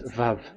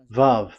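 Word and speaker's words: וָו: So the word, the shape Vav is really pronounced V, like Vogue.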